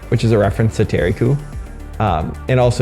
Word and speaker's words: Thierry Coup: is a reference to Terry coup um and also if you pronounce it Terry Coupe uh it sounds like the scoop so could be either